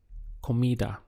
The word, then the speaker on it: comida: word for food is comida so the syllables would be COA Kida and to say the food